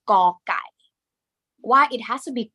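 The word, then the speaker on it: ก ไก่: So as you can see, this word is called gõ gai. Gõ gai. Well, you can also it sound more like this, or like awesome กอนะคะกอไก่ because this letter has g sound g initial consonant sound please pronounce ค่ะ g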